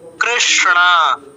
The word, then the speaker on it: কৃষ্ণ: এরটা মধ স অর্ধন কৃষ্ণা কৃষ্ণা দুইটাই মূর্ধাতে উচ্চারিত হয় মূর্ধন্য স মূর্ধন্য ন কৃষণ তারপর কালো রঙের লেখা